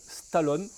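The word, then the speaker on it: Stalon: Nous avons d'abord un premier modèle de la marque suédoise Stallone. Stallone comme Sylvester, mais ça ne s'écrit pas pareil. Vous regardez bien, ça se termine avec un seul N.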